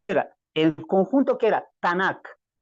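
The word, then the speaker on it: Tanakh: su Biblia que tanak tal como lo estoy pronunciando tanak ya de donde se derivan las tres del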